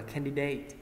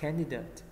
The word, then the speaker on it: candidate: tiếp theo candidate candidate mình không đọc là candidate đúng không mình đọc là candidate can âm 1 C là thí sinh